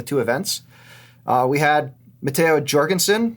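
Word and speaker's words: Jorgenson: We had Matteo Jorgensen, that's with a J. There's video of him saying it when he's like 12, so I'm going to say that's how you say it.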